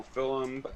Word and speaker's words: film: things like you know film uh i'm sorry i'm irish we we use a double syllable on film right uh so film um music uh games